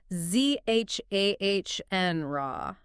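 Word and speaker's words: genre: And then down in Australia, they tend to say z h ah n rah. Z h a n rah. So that last vowel shifts a bit.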